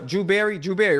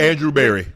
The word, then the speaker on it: Andrew Berry: this not being my pick, this is brother Drew Berry, right? Is that how you say his name? Andrew Berry.